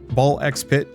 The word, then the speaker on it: BALL x PIT: It is Ball X Pit. It is supposedly just Ball Pit. The X is silent, but no, both are valid.